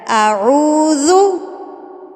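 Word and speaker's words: أعوذ: ذال کو آپ نے جو ہے اپنے دانتوں کے درمیان میں زبان لے کر تب اس کو پڑھنا ہے۔ اب دیکھیے میں نے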